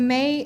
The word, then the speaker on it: Me: It's pronounced May, but it's spelled M-E.